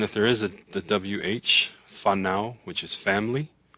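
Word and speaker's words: whānau: And if there is the WH, fanao, which is family, it's pronounced like an F, fanao.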